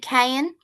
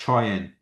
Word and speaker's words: Cheyenne: So K is it Kayan? It's pronounced Cheyenne.